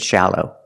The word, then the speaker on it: shallow: look at each one first let's look at shallow the first syllable is the short ah sound like in Black Cat shallow to make the sound put the tongue down in the front behind the bottom teeth and it's hung up in the back ah shallow and smile a little bit not too much not Sha share shallow and the second syllable is the long o like know and go o shallow shallow is an adjective